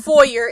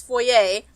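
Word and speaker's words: foyer: steps into the pee it's not pronounced for year it's for yay noting the oil portrait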